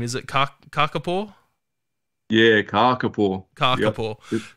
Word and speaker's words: kakapo: Yeah, kakapo. Kakapo. Yep. They've got a long A on them. If you have a short A, kaka means poo, but kaka means the parrot, so kakapo.